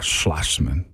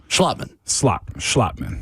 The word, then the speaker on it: Schlottman: So, by the way, I'm going to say his name better. Slotman is his name, not Schlossman. Schlottman. There you go.